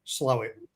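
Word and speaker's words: Slaithwaite: How I'll say how it's you grew up in Slafway, but it's pronounced slowit for those that are from.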